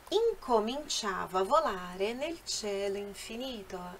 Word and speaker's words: cielo: Cielo. A pronúncia correta é cielo, cielo, e significa céu.